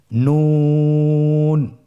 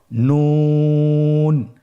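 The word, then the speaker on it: نون: নুন হরফটি উচ্চারণের ক্ষেত্রে অবশ্যই পাতলা করে উচ্চারণ করতে হবে এবং তিন আলিফ টেনে পড়তে হবে। আপনারা আমার সাথে বলুন নন। আরেকবার চেষ্টা করুন নন।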